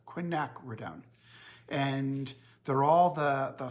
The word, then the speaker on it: quinacridone: of you asked about how to pronounce Quinn acronym it's quick knack we're done Quinn knack we're down and they're all the